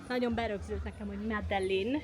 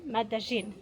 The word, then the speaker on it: Medellín: C'est Medellín. Voilà comment ça se prononce. C'est comme ça que je m'y suis habitué : Madelin, mais pas : Medezsin.